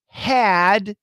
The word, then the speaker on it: had: Very common words, and almost always the H is silent. Silence. There's no H. So we had becomes we had.